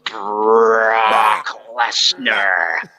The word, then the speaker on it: Brock Lesnar: didn't pronounce his name correctly. It was Brock Lesnar.